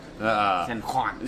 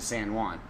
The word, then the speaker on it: San Juan: Make sure that you pronounce it right, because if you say San Juan, they will not know where you are.